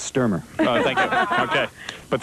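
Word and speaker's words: Stuermer: Sturmer.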